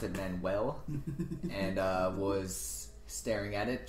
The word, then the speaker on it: Manuel: I was spelling manual on a form, and I spelt it Manuel, and was staring at it, trying to see if I had spelt it wrong. Until someone else pointed, no, that's Manuel, not manual.